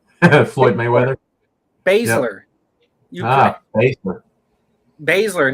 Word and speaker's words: Baszler: Baszler, not Basler.